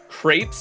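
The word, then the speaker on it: crêpes: Crepes. It's like grapes.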